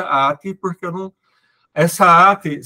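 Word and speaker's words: ἄτη: grega, e aí eu aprendi com o Google Tradutor que se pronuncia ati. E aí eu vou ficar falando essa coisa esquisita, ate, porque eu não...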